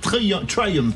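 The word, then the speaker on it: Triumph: le directeur marketing de Trium pour le prononcer à l'anglaise qui vont sortir 29 modèles dans les 6 mois à venir.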